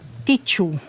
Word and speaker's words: Teochew: Kasi, ang movie ay originally in Teochew. Tama pronounce.